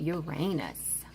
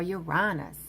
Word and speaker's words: Uranus: Let's talk about Uranus or Uranus, however you want to pronounce it. Uranus, Uranus, tomato, tomato. Okay.